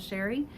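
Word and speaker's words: Chere: It is spelled a little fancy but pronounced plain old Sherry.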